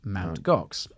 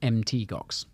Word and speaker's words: Mt. Gox: So he stuck with that, and that has since come to be known as Mt. Gox. Now, apparently, you're supposed to pronounce it MT Gox, but no one ever does.